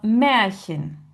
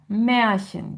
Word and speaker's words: Märchen: A umlaut, c'est E, comme dans Märchen, Märchen, qui veut dire le conte.